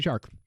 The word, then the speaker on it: Chark: I think it's Chark still. Wasn't it Shark Week recently? Anyways. Yes. Spelled with a C. Sounds like an S.